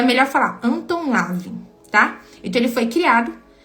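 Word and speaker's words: Anton LaVey: Mas ele é um nome bem difícil de de pronunciar ele em um alemão. É Anton Esandor Living. Lavin, então é melhor falar Anton Lavin, tá?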